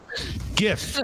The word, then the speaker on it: GIF: Pronounced with a J. GIF.